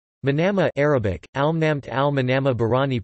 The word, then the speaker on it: Manama: Manama Arabic, Al-Namt Al-Manama Bahraini pronunciation, Elm-NM, is the capital and largest city of Bahrain, with an approximate population of 157,000 people.